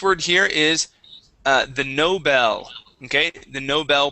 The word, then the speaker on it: Nobel: here is uh the Nobel okay the Nobel Prize instead of Nobel Nobel Nobel the Nobel Prize okay Nobel no electricity Bell there you go Noel Nobel or Noel Noel Nobel